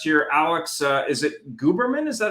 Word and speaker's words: Guberman: a special guest here Alex uh is it gooberman is that how you pronounce it Alex guberman yes not a problem so Alex maybe you